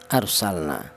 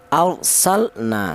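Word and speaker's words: أرسلنا: Arsalna seperti itu cara baca jelas ya. Saya ulang, arsalna, sal dibaca idhar atau dibaca jelas, alasannya adalah mati yang bertempat di kalimah fi'il.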